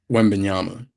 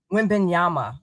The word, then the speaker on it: Wembanyama: How do you say his name, Nehemiah? Wembanyama. Wembanyama.